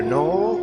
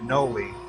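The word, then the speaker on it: anole: Is it a knoll or a noli? A noli is how I heard somebody pronounce it yesterday.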